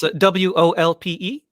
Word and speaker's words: Wolpe: Interesting, because my father's Wolpe. Yes, that's right. With an accent on the E.